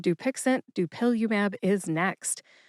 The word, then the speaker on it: Dupilumab: Dupilumab is next. Dupilumab has four syllables. That's do like duel, pill like a pillow, U like the letter U in the alphabet, and MAB which is the stem for monoconal antibodies.